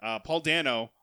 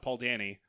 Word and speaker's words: Paul Dano: down his name wrong Paul Dano not Paul Dini joins as the Riddler